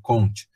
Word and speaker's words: Comte: Comte se escreve Comte, né? Comte.